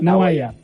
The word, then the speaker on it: Nawaiam: de la consultora de Naguayam. Así se pronuncia, ¿no? ¿Qué tal, Horacio? ¿Cómo estás? Buenas noches. Hola, Julio. ¿Qué tal? Buenas noches. Sí, está muy bien pronunciado. Naguayam.